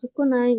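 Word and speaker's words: 少ない: Tapi kalau sukunai itu ditambahin garis bawah ini. Hai, gitu. Untuk cara bacanya ada 3. Sukunai, sukoshi, sama sho. Sho, gitu.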